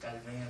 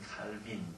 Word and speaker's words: 깔뱅: 제가 프랑스 가서 공부하면서 이분이 프랑스 분이기 때문에 불어식으로 발음을 배웠고 또 그렇게 부르는 것이 마땅하다 생각해서 늘 30여 년 그렇게 불러서 입에 저는 깔뱅으로 되어 있습니다.